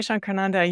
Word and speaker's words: Shankarananda: My teacher was named Swami Shankarananda. You did a good job pronouncing it.